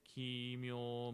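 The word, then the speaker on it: kimyō: When chanting Shoshinge, the following U, like U as in mood, in the long O vowel is clearly pronounced.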